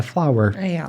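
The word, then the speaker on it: flour: Farinha em inglês é flower. É exatamente a mesma pronúncia de flor, flower.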